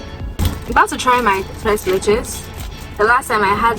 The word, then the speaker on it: tres leches: Another the tres leches. Is that how you say it? No, it's Spanish. Tres leches. Sorry. It's not French. No, it's Spanish. Oh. Leche is milk in Spanish.